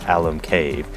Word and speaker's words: Alum Cave: of Alum Cave and we are choosing to believe that when they were naming Alum Cave they wanted to name it after this guy Al but they weren't sure if they should call this a cave or not so when they were naming it they said let's name it Al um cave and that's how we're going to remember the pronunciation okay we've had our